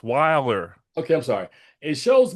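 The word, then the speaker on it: Deadwyler: You keep putting an extra D in it. Wilder. It's Wilder.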